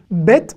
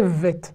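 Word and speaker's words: ב: Bet et Vet, c'est la même lettre, et qui va, selon la place dans le mot, se prononcer Bet, donc avoir un point, ou ne pas avoir de point, et se prononcer Vet.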